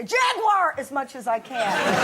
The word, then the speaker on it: Jaguar: oh no not a Jaguar if you're going to promote them at least learn to say it properly how am I saying Jaguars three syllables over yeah you say you're saying Jaguar okay I don't have time